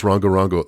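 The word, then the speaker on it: Rongorongo: If you're interested, you should look up these planks, just spelled like it sounds, Rongo Rongo.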